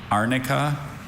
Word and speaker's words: arnica: And um all the pronunciations please. Arnica arica.